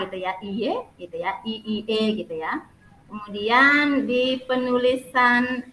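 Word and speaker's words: いいえ: mungkin kata-katanya yang masih perlu diperbaiki, ada kesalahan pengucapan ya Nak ya. Ada dikit aja. Mungkin ada kata iye gitu ya, penulisannya bukan iye gitu ya, bukan iye gitu ya, bukan k gitu ya, iye gitu ya, iie gitu ya.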